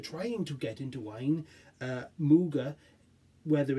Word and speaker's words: Muga: So Muga, it could also be Mug A, but I'm pretty sure it's pronounced Muga.